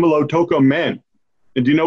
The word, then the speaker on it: Lautoka: First off, am I pronouncing the name of your town right? Lautoka? Lautoka, yeah.